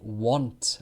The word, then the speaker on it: want: want an ice-cream I want an ice-cream want I won't go I won't go there I won't go there won't so w annt want is wha want or and W Ont is won't won't so that the vowel